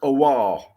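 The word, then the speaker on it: Aouar: And I think it's pronounced Awar, I think.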